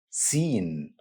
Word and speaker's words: Seen: Arabic alphabet is letter seen seen scene good news guys this letter has English counterpart which is letter s same sound two letter s an English word seven it's easy to pronounce